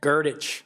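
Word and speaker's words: Grdich: How's it pronounced? Gertich. Gert.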